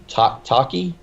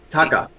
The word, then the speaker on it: Taika: these chances for the young blood, like this Taki. Is that what you pronounce the first name? Taka. Taika Waititi.